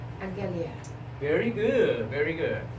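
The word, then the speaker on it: ἀγγελία: Angelia. Very good, very good. Because it's gamma, gamma, so fourth gamma is an NG sound, right?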